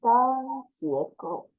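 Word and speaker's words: 钢结构: 钢, yes, correct. Just now we learned about 钢筋. This is 钢, again, the plus ang, first tone. 钢, 钢, and 结构 will be like the jacket of, but J plus A. 结, second tone. G plus A, yes. To check it out, J plus A. 结, go will be please go ahead. Fourth one, go.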